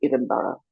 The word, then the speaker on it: Edinburgh: the Edinburgh uh postnatal depression scale, the correct pronunciation would be Edinburgh.